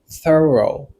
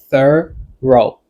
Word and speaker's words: thorough: This word has 2 syllables. Mot ça, il y a 2 syllabes. Alright? Dans la première syllabe là, on va avoir un son Ouais? Dans la deuxième syllabe là, on va avoir un son O. Ouais? O. Qu'on y a, on allait dans la phonétique là. TH là, right? Ça veut dire TH là, li voiceless. Là que moi dis voiceless,